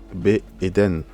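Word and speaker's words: בעדן: Be Eden. Donc, le B ici, en fait, c'est une sorte de préposition. En fait, c'est pour indiquer la direction ou l'endroit. D'accord? Donc, c'est pour dire ici en Éden.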